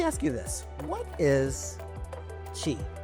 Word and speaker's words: Qi: So let me ask you this: what is Qi? You hear everybody talk about Qi, spelled with I, oddly enough. Yes. I always thought it was CHI for the longest time, but you hear about Qi.